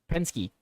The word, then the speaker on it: Penske: Tyler, it's pronounced Pens Pensky, whatever. Pensky. Uh Mike Penske.